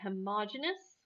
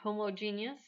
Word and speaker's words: homogeneous: that is a mixture mixtures can either be homogeneous or homogeneous two different pronunciations of that word um or they can